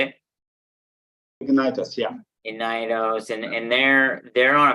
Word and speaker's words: Ignitos: Ignitos, yeah.